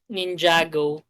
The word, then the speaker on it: Ninjago: parang ah vert Ano Ninja Go ni pa Ninja Go ninjo Hindi ko kasi alam yung pronounciation Ninja e Ninjago pala Ninjago Ninjago nago kami non